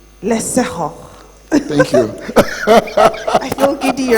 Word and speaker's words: Leapfrogg: It's a Setswana word. The G is pronounced H. Leapfrogging.